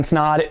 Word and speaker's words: Snod: My name is Snod. It rhymes with odd, and welcome to another video.